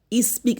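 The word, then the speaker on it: speak: স্পিক, স্পিক কি বললাম, স্পিক, স্পিক না বলে স্পিক, স্পিক এই এসটা হালকা করে উচ্চারণ হবে, স্পিক মানে কি করা, কথা বলা।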